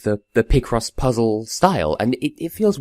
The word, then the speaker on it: Picross: it feels weird saying Picross so consistently, because like I said, in my head I pronounce it Picross, but I know that's wrong, because it's picture, not picture.